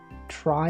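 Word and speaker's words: trie: Try, it's actually pronounced try.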